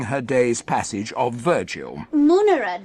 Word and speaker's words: munera: Munera, darling, like tum-tiddy. Always a short A in neuter plural.